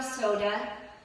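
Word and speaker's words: Sodha: My name is Soda. It does sound like the beverage, but it's spelled differently.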